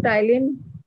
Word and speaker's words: ptyalin: में टाइलिन लिखा है, स्पेलिंग के आगे ये लिखा हुआ है पटाइलिन, मतलब पी साइलेंट हो गया। जैसे चाकू का होता है ना नाइफ, तो के लग जाता है, ऐसे ये साइलेंट।